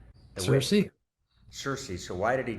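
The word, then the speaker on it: Circe: Why did he take you know let's pronounce it c I r give us a pronunciation cersei.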